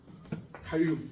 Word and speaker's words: 칼륨: 발음 잘해야 돼. 갈륨은 또 있어. 따로 있죠. 갈륨은 녹는 점이 17표야. 손바닥에 올라오면 녹아. 어 갈륨이라고 금속인데 손에다 올려면 녹아. 칼륨 G.